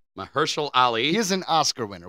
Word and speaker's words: Mahershala Ali: His name is Mahershala Ali. Mahershala Ali. He is an Oscar winner. We have to pronounce his name correctly.